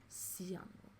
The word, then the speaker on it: Seonwoo: And then he revealed in a V Live that his birth name is spelled Seonwoo. Seonwoo. But it's... His stage name is Sunwoo.